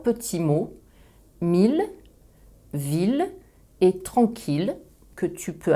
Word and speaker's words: ville: Je prononce ville ou tranquillité, mais meilleure et vieille. Je prononce la phonétique le ou la phonétique ye.